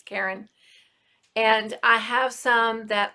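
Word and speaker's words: Caron: to look at the quran simply soft or karen simply soft how i think that's how it's actually pronounced as karen and i have some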